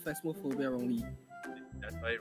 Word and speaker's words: Phasmophobia: Allow is spelled phasmophobia wrongly. That's very wrong. It's not phasma, it's phasmo. Mo, not ma. Okay, let me see.